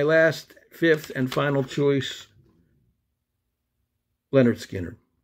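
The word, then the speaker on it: Lynyrd Skynyrd: fifth and final choice leonard skinner 1973's pronounced leonard skynyrd southern rock band uh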